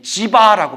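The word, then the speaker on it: जीव: 지아라 불러요 지화 예 지바라 불러요 지와 지바 지바 지와 중간 발음이라고 지바 자이나 교에서 주장하던 거예요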